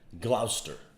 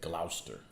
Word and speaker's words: Gloucester: paid back for that gloucester right that's how you say it gloucester i hate lester the